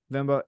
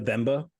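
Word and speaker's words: Venba: cocoon dredge Pizza Tower vimba and viewfinder I gave mine the vmba personally oh vmba sorry I pronounced it wrong although I did hear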